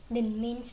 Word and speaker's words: Đình: Nếu muốn phát âm từ “Đình” hãy chú ý vào dấu “\” Bạn có thể phát âm từ này bằng cách hạ giọng thấp xuống một chút.